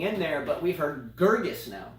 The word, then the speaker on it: Muguruza: I don't know but I say go muguruza and then now that I know Girgis is actually correct I'm sorry for all these years Julia I will now call you by your connect correct pronunciation of Girgis yes muguruza garvey's let's